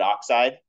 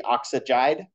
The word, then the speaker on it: oxide: intuitively when I said, what is oxygen called when it has a -2 charge? Everybody said oxide. But following our regular rule of just drop the last syllable and replace it with ide, it would be oxygide, which sounds weird, right?